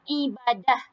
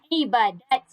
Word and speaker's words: ibadah: Contohnya ibadah. Ibadat. Dia ada boleh dua. Boleh dua maksud, dua variasi sebutan dia. Dia boleh jadi ibadah, dia juga boleh jadi ibadat.